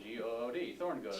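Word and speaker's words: Tehorngood: It's Thorngood? Yes. Awesome! You don't pronounce the E. There's an E? At the beginning. There's an E at the beginning? Yeah, T-E-H-O-R-N-G-O-O-D, Thorngood. T-E-H, torn.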